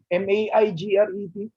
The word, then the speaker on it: Maigret: MAIGRET.